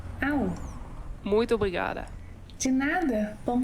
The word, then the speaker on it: Ahú: A-H-U com acento. AU.